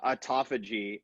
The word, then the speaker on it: autophagy: And Sam, I'm glad you're on here, because is it autophagy? Yeah, so autophagy.